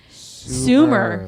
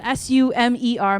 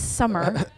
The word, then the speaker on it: Sumer: cigarettes it's a Sumer Sumer okay so spelled s-u-m-e-r my kids always spell it with two M's and I'm like no that's summer that's what you like